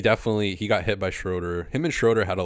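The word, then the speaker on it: Schröder: say his name correctly everybody says like Schroeder Schroeder it's h like Herby does it right it's h should be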